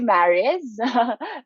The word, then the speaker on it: Mariz: uh business very nice very nice and uh am i saying it correctly i'm not getting your voice you're muted okay you can call me marius okay thank you so much so i'm a